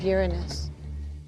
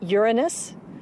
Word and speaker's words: Uranus: pronounced the planets name Uranus which is very likely closer to the original pronunciation of the name of the God after Luna was named